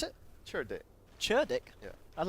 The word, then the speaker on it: cerdik: It's cerdik. CERDIK. Dire's CERDIK. bottom tower is Yeah. under attack. How'd you pronounce it? Cerdik. Churdick?